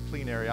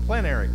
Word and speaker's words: plenary: the attorney knows what clean area I'm not on being saying that right said plenary or clean area say it again plenary I said it wrong plenary what does that mean